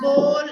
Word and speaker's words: bowl: So one is the O sound. I'm putting in your, and the other is the O sound. Oh. Ball. So ball is O. Ball. And bowl is bowl.